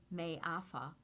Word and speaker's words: Mafa: Mafa, a Swahili word pronounced May-afa, means unspeakable horror and is used to refer to the horrors of the transatlantic slave trade.